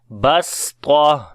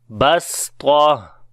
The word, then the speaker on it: بَسْطَة: So how to say then? Basta, like the seen with light sound, and ta with heavy sound. Basta. وَزَادَكُمْ فِي الْخَلْقِ بَسْطَةً وَزَادَكُمْ فِي الْخَلْقِ بَسْطَةً. Basta, right?